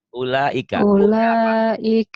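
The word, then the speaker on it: أولئك: Ulaika U-nya matobi.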